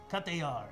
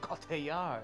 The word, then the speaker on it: Cotillard: Cotillard. Cotillard. You almost have to say it like a pirate.